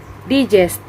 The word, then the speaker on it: digest: this word is hamadukan the sixth word is digest the point ethics of this word is digest digest the stress is located on the second syllable and the meaning of